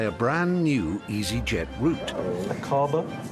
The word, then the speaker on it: Aqaba: Aqaba? Is that how you would pronounce it? Yes, Aqaba. That's right, Iris. It's Aqaba in Jordan.